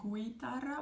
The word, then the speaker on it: guitarra: Again, we don't say guitarra, we say guitarra, and the spelling is G-U-I.